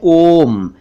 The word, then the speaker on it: ओम: एक शब्द है ओम, इसमें भी ओ साउंड है, ओम, ओम नहीं है, ओम, ये एक पवित्र शब्द है, आप सब जानते हैं।